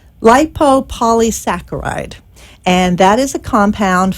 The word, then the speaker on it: lipopolysaccharide: There is a bacteria, and I will attempt to pronounce this. It's actually not too bad. It's lipopolysaccharide.